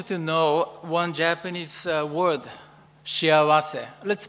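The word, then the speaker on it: 幸せ: Today, I want you to know one Japanese word, shiawase. Let's pronounce it, shiawase.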